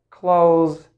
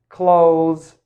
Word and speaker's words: clothes: clothes it's clothes clothes clothes now if you if you find it very difficult it's okay you can just pronounce it this way close close close like close the door or close the window my clothes are dirty